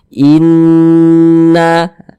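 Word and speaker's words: إِنَّا: Cara membacanya dia digunakan tuh ya didengungkan. Jadi suaranya itu kita tahan, kita panjangkan sejenak. Inna sepanjang 2 harokat.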